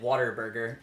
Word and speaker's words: Whataburger: depending on where you are in Texas, people says pronounce it Waterburger.